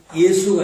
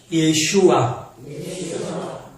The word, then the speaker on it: 예슈아: 그런데 예수도 원 발음이 예수가 아니에요. 예슈아.